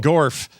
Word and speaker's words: Gorf: Like dwarf, but Gorf.